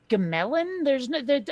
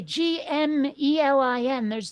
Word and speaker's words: Gmelin: German scientists Friedrich Tiedemann, sure, Leopold Gemelin. Okay, Gmelin. There's no vowel there.